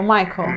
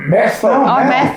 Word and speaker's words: Matthew: É o Michael. Matthew. Matthew. Fala de novo, a pronúncia da Fabiana. É o Matthew. Cuthbert. Eu falei Michael, é Matthew. Vai lá.